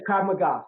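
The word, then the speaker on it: Krav Maga: Was this secondderee black belt in Krab Margo? Am I saying it right? Yes. Krab magga.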